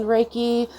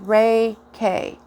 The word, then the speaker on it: Reiki: well what is reiki reiki is pronounced ray k rei ki sorry um it's a